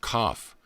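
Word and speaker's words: qoph: in symbolism 100 has the letter q o pH pronounced cough the back of the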